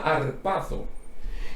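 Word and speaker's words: ἁρπάζω: Muy interesante esta palabra, que viene de un verbo griego que se pronuncia arpazo.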